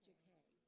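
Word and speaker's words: Jacquet: Mispronouncing JK Middle School as Jaquette. It's never been Jaquette.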